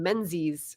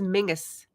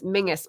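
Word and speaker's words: Menzies: the family maybe as Mingus because the Z was actually like a different character that doesn't exist in English anymore I was like what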